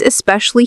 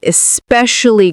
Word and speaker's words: especially: So the second syllable has the stress.